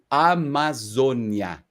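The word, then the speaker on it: Amazônia: I'll say it in plain Portuguese. Amazonia. Got it.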